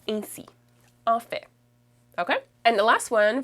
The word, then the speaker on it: en fait: En fait, on le prononce ainsi. En fait.